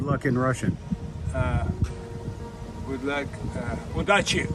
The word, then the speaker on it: Удачи: Удачи. Удачи.